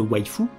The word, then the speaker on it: waifu: votre avatar de choisir votre Wi-Fi prononcé à la japonaise ou votre husbando parmi